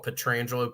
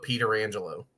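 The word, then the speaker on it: Pietrangelo: The one I remember is Pierre McGuire would always call Petrangelo Peter Angelo.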